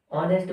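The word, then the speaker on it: honest: क्या लग जाएगा एन जबकि एच है एच साइलेंट आई बात समझ में ठीक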